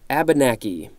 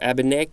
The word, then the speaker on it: Abenaki: is telling me next Abenaki or a banach Abenaki I believe that's correct noun 1721 one a